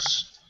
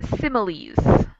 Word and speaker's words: similes: And And those are smiles. actually that's similes. Okay. Smiles would be Similes. without the second Yeah, I. similes. I didn't see the eye.